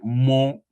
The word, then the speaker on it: mon: If you want to say my friend, you meet somebody in your area, you say my friend, you say mo, that is spelled m o n.